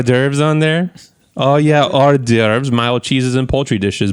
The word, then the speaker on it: hors d'oeuvres: Oh, yeah, hors d'oeuvres, mild cheeses, and poultry dishes. Bullshit. This pairs with everything. That's a lot of letters for 2 syllables.